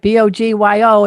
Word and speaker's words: Bogyo: That's right. Bogyo. It's Hungarian.